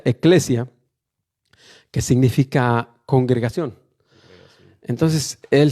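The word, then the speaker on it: ecclesia: Iglesia viene del griego primero y luego del latín, que se pronuncia eclesia, que significa congregación.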